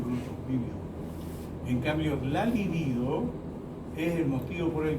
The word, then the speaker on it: libido: ¿Alguien sabe qué es la libido?